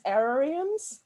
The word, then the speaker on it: aerarium: So she has a lot of these aerariums. That's a horrible word to pronounce, but air, like terrarium, but with air.